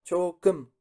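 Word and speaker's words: 조금: La primera sílaba sería cho, ¿no? Cho. Y la segunda tenemos la kiok, k. Luego la vocal, que es como con los dientes cerrados, e. Y en posición de consonante de soporte abajo, m. Entonces sería km, km. Entonces la palabra sería, con las dos sílabas, cho km, cho km.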